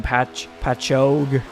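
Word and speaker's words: Patchogue: driving for warrior racing from Pat Pacho New York that's how you say it but bman comes in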